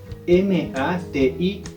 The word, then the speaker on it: mati: Entonces cómo se dice la frente es mate m a t i Mati Sí tal como se pronuncia igual se escribe no varía mucho ahora